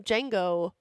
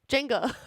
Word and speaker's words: Jenga: We're going to do some Django. Jenga. I keep saying it wrong.